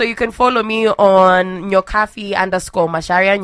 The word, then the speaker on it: Nyokabi: Facebook so it is it is pronounced as an F but it is spelled as a b okay but you see